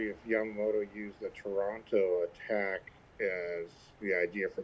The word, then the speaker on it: Taranto: um the the the the I don't know if you call it Toronto or Taranto or how you say it properly, but yeah, Toranto, but the Toranto raid